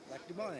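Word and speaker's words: Lac du Bonnet: Lac de Bana, yeah. Lac de Bana. That's how I do it. You can Yeah. go bonnet if you want.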